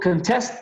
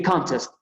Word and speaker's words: contest: No es lo mismo si yo digo contest que contest. Para que entiendan, o sea, se escribe exactamente igual, las 2 palabras que acabo de mencionar, pero si yo digo contest, es contestar.